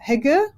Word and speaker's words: hygge: Okay, well, so it's a German word, and you pronounce it Gemütlichkeit. And it's kind of like, it's similar to Hygge, I think, which is more well known internationally.